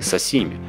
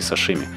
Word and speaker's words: сасими: Кстати, правильно говорить суси, равно как и сасими, а не сашими. Шипящие закрепились после того, как это национальное блюдо стало популярным на Западе.